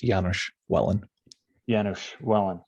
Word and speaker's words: Janusz Welin: a special guest it's janusz willen deep mindfulness welcome thank you so much and i'll just we were talking about the pronunciation before i'll just i'll say it's janusz wellin perfect thank you okay